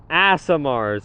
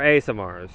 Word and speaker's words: Aasimar: the Tieflings, or Genasi, Aasimars as well, or Aasimars. I say Aasimar. Put down whatever you want in the comments. I don't know how you pronounce it. I accept both, and I switch both, but currently it's Aasimar. But yeah.